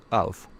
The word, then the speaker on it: of: We say of with a v sound of and we say off with a f sound of.